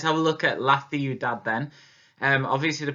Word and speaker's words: ciudad: Okay, let's have a look at La Ciudad then. Obviously the pronunciation is slightly different for this one. With El Campo we said k, but with Ciudad it's a th sound.